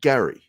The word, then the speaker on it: Gerry: like a k and in ireland because that's where my name comes from uh they pronounced it gary it came from geralt